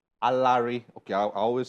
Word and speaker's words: Alaere: wow there are lyrics alert is how you pronounce this name right no a larry a larry okay i always said i will ask you